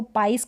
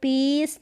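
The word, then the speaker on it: piece: टुकड़ा फिर यह है बिलीव इसको बिलाव करके पढ़ द या इसको पाइस करके पढ़ दे गलत हो जाएगा आई ई और इसका उच्चारण ई बड़ी के रूप में आई का उच्चारण लॉन्ग है लंबा उच्चारण है मानना या विश्वास करना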